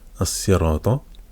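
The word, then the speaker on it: الصراط: Ensuite, as-sirata. As. As-sira. Il y a une prolongation. As-sira. Ta. La shadda, parce que as-si. As-si. Sira, donc c'est une fatha.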